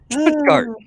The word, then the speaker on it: Stuttgart: And then this will be the next addition to that with the Stuttgart Peace Prize, if I pronounce that properly. Stuttgart.